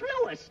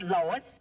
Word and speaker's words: Louis: Me name is Lewis, not Lois. Gee whiz, everybody interpolates me name wrong. It's Lewis. L-O-U-I-S.